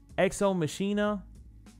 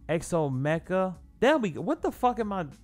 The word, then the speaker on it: Exo Mecha: Exo Machina. I'm pretty sure that's how you pronounce it. Yeah. Exo Machina. Oh, no, there's no N. Exo Mecha. What is wrong with me? Exo Mecha. There we go.